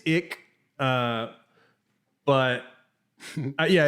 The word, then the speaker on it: ich: the german word for i and that is pronounced ick so okay yeah uh but yeah so it's